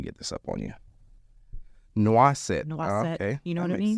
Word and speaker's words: Noisette: the spotlight, Miss Desiree Noisette. Is that how you say it? Noisette. Noisette? That's how we say it here in the South, especially. Mm-hmm. You go to France, it's Noisette.